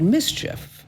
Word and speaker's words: MSCHF: little knows littlenosex and a company called mischief and it's spelled mschf and they're promoting this